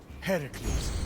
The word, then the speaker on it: Heracles: Heracles. Yeah, that Heracles. That is how it's supposed to be pronounced.